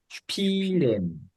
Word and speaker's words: Spielen: 시작할 때 그 앞에 S는 스피가 아니고 슈피. 그렇게 해서 슈 발음이 됩니다. 발음이 좀 바뀌어서. 그래서 읽어볼까요? 슈피렌 Spielen, 하면 플레이하다면 놀다, 연주하다 뭐 등등의 뜻이 됩니다.